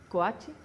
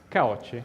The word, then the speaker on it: Caocci: Quiero pronunciar bien tu nombre. Bueno. ¿Davice? ¿Coachi? Caoche.